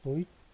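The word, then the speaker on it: Deutsch: 도치 도이란트입니다. 오 발음이죠. 도이취 그다음에 란 이렇게 됐죠. 그다음 당신 어디에 거주합니까?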